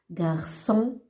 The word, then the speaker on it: garçon: Par exemple, si on n'a pas ajouté cédi, on va prononcer garçon. Et c'est faux. C'est garçon, garçon.